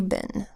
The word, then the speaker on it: been: lesson we learned that in the word een the double e does not make a long e sound like you would expect instead it's a short I sound a BA hmm Ben how have you been and now we have